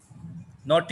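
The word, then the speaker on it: naughty: कि हम शरारती बच्चे हैं बीहड़ नोटिस चिल्ड्रन नॉट मीन श्राद्ध इसको नॉटी पर न लौटने पर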